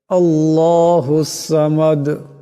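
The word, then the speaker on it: ٱللَّهُ ٱلصَّمَدُ: হবে কুলহু আল্লাহু আহাদ আল্লাহুস সামাদ আল্লাহ আওয়াজটা মোটা করে পড়তে হবে আল্লাহর লামকে মোটা করে পড়তে হবে আল্লাহুস সামাদ এখানে দাল সাকিন হয়ে যাবে আওয়াজটিতে ঝটকা আসবে কলকালা হবে আল্লাহুস সামাদ লাম ইয়ালিদ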